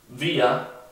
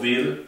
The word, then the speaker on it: wir: Wir significa nosotros. También se pronuncia la R, al final se pronuncia como A. No decimos wir, sino decimos wir.